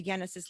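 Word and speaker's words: Yenesis: good thank you genesis the word genesis is like the bible word the beginning but it's spelled with a lie right so jenna says y-e-n-e-s-i-s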